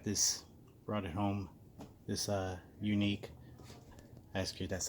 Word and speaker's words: Yuneec: run at home this unique ask you that's how I was that's always pronounced unique why you in EE